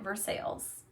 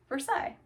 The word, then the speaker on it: Versailles: And in Indiana, you pronounce it Versailles, but in France you pronounce it Versailles.